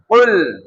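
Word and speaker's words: قل: তাহলে এই শব্দটা উচ্চারণ জিহ্বার গোড়া থেকে।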